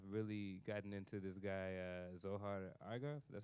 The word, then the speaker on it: Zohar Argov: So in the couple days I've been here, I've really gotten into this guy Zohar Argov.